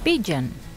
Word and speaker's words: pigeon: Hoy veremos expresiones con la palabra pigeon. ¿Cómo se pronuncia? Viene a ser la mezcla de pi y john, o más bien gin, con un poco de gin.